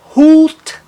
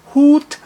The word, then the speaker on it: Hut: E na palavra Hut, Hut, uma consoante que o segue, e os dois pontinhos na transcrição fonética indicando que ele tem o som mais alongado.